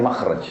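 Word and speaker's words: مخرج: ya bahasa Arabnya itu mim Kha ra Jim bacanya makhraj karena Kenapa digunakan kalimat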